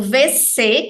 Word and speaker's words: WC: usar o banheiro o vc que é sanitário em francês a gente fala vc por mais que se escreva WC tá a gente fala